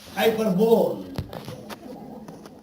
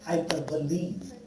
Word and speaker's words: hyperbole: One teacher said, hyperbole. My teacher corrected him, shut up. Not hyperbole, hyperbole. Hyperbole. Correct pronunciation. Correct pronunciation.